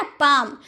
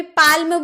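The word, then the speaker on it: palm: जैसे पाम हथेली को हम बोलते हैं ना पाम। तो क्या हम लोगों ने कभी पाल में बोला है? अगर आप बचपन में होंगे आपको नहीं पता होगा कि एल साइलेंट है तब जरूर बोले होंगे पालम लेकिन जब आपने जाना कि एल चुप रहता है तब आपने बोला होगा पाम लेकिन चुप कब-कब रहता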